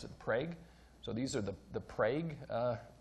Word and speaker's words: Prague: This is now in Oklahoma, where so you don't pronounce that Prague, you pronounce it Prague.